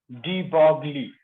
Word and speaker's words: de Broglie: सर ये डी ब्रोगली का एक बार स्पेलिंग आप ऊपर से ठीक से लिख दोगे? डी लिख, अभी लिखने जा रहे हैं। डी बॉगली, तो लिखो डी बॉगली हाइपोथेसिस।